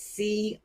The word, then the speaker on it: Cralle: It's Cralle. So if you saw that, would you pronounce that as Crawl? One more time. Cralle. Would you say Crawl? I would have pronounced it Crawl for sure.